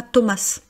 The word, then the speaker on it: Thomas: Vous voyez version française, on dit pas Thomas. Voilà, une lettre une lettre muette.